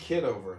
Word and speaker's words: Kitover: It's pronounced kiddover.